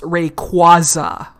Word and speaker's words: Rayquaza: really drives me nut quasar quasar but it's pronounced rayquaza quasa you pokemon i hate